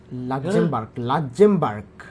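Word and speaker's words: Luxembourg: লাক্সেমবার্গ উচ্চারণ হবে এরকম, 2,94,000।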